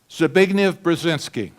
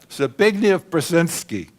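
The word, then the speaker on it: Zbigniew Brzezinski: His name, Zabign Brazinski.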